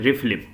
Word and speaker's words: RFLP: restriction fragment length polymorphism in pronunciation we are going to call it refleem ah so if you